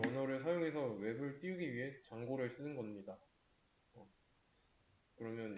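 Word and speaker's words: Django: pip 업그레이드 했고 장고 그리고 MySQL 클라이언트, 이 D는 묵음이에요. 장고입니다.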